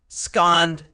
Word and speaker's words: abscond: It's pronounced scond with the stress on the second syllable.